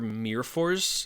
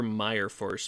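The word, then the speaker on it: Myrfors: is Drew Tucker and Jesper Mir Force looks like Jesper Meyer Force but uh those two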